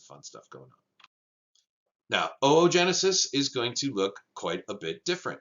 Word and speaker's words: oogenesis: is referred to as oogenesis or oogenesis yes you pronounce each one of those o's uh individually from one another all right making uh